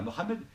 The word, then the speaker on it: Mohammed: un peu à Mohammed, Mohammed, excusez-moi, je préfère le dire, le prononcer à l'arabe quand même, c'est mieux. Donc, on arrive à Mohammed, et là, on a